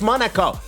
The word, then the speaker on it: Monaco: I've looked it up a couple of times and I still can't remember how to pronounce it, so it's Monaco.